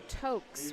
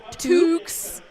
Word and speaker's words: toques: Toques. Sorry, I always mess that I know, up. I did too. Toques, which... Gretchen had to tell me. Because it rhymes with put up your dukes, put up your I toques.